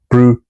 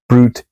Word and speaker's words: Brute: This is often said as brute, the syllables being separated between the U and the T, but I contend that it should be brute, the syllables being separated between the T and the E, which is why the folio puts the accent mark above the E.